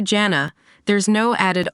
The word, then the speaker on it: Jana: Janet or Jana where the J is pronounced like the J in George but with a harder Edge this is consistent with